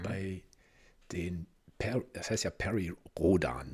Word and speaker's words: Perry Rhodan: den das heißt ja Perry Rodan ne also so richtig so deutsch ausgesprochen wo kommt nicht der